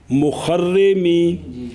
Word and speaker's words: مخرمی: فرق ہے فرق ہے اول مخرمی بے ضم المیم فتح را کسر را مشد فتح خا تے کسر را مشددہ نسبت ہے مخرم بغداد